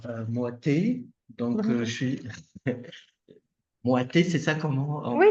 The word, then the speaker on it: Moaté: suis Moité, c'est ça comment on Oui, c'est prononce son nom?